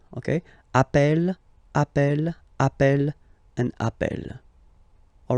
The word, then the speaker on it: appelle: You tend to pronounce it like really open. That's the reason why you pronounce it appel. Okay, appel, and appel.